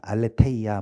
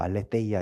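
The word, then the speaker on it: ἀλήθεια: 무엇이냐면 그 알레베이아라고 합니다 알레데이야 뭐 알레데이야 이렇게 하는데 th 발음이긴 한데 한번 그 글자를 보여주실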